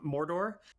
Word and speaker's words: Mordor: Yeah, I mean, especially like she's getting a lot of praise, a lot of well-deserved praise for how she pronounced Mordor. Yeah, She I mean, rolled the R's.